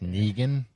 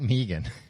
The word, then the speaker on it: Negan: That's coming back with Negan. Who? Negan. He's the bad guy. Big badgan. Not Megan.